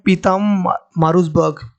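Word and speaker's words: Pietermaritzburg: इस railway station का नाम है, बहुत ही कंफ्यूजिंग नाम है ये, एंड इसको प्रोनाउंस करते हैं पीतम मारूसबर्ग।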